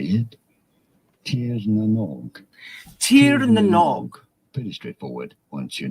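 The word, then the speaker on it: Tír na nÓg: Tirnanog.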